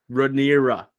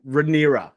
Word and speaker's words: Rhaenyra: Rhaenyra. Yeah, Rhaenyra. Okay, these are tough to pronounce, especially because we don't have a great familiarity with them yet.